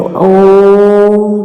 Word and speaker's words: ॐ: अ, उ और म को जब हम एक साथ प्रोनाउंसिएट करते हैं तो ओम की साउंड आती है।